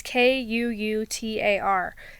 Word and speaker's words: Kuutar: There's no N. It's Kuutar. Now, if I'm pronouncing that wrong as Kuutar, I don't know what to do about that.